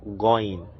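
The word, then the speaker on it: غين: The 19th one, which is this, it's called going, going, as in go.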